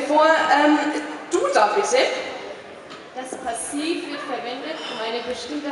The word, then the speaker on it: Passiv: Das heißt doch Passiv. Ja, mein Duden sagt das auch. Schau, Andreas, der Punkt ist eindeutig über dem A. Passiv.